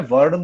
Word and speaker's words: वर्ण: ही हो तब भी वरना बोलते हो. हिंदी में वर्ण बोला जाता है, लेकिन सिर्फ ये इंग्लिश है तो वरना बोल रहा हूँ. प्रोनाउंसिएशन पे आप इतना फोकस ना करें, समझ में सब आना चाहिए, राइट. वरना इसको वर्ण बोलते हैं, ठीक है, लेकिन मैं इंग्लिश से इंग्लिश में तो वर्ण या वरना कहते रहूंगा.